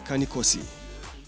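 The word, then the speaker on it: Cani Corsi: they they they name kane corso it's actually pronounced kanikoso the plural is a carnicosi and they descend from the italian wardogs they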